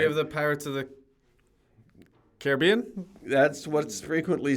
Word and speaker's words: Caribbean: Yeah, we have the Pirates of the Caribbean. That's what's frequently said, but it's actually Pirates of the Caribbean because the Caribbean pronunciation is the noun and the name of the sea, and Caribbean is the adjective.